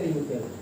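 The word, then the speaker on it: wrinkled: यहाँ पर एक वर्ड आया है रिंकल्ड, WRINKLD, इसको पढ़ेंगे रिंकल्ड। इसमें जो W लेटर है वो क्या है, साइलेंट है, W को पढ़ा नहीं जाता है।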